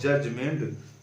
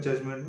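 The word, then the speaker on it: judgment: ऑन द डे ऑफ जजमेंट, ये D silent होता है जजमेंट में।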